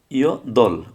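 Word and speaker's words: 여덟: এটা কী হবে, ইয় দল, বিয়োগের উচ্চারণটা হয় নাই, সেকেন্ড বাচ্চিম উচ্চারণটা হয় নাই, ইয় দল, ইয় দল অর্থ হচ্ছে আট।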